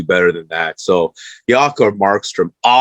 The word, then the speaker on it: Markstrom: Jakob Markstrom. Is that how you pronounce him? Jakob Markstrom, yes.